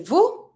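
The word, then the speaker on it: vous: end of the verb don't pronounce the S to say Vu so remember Vu it's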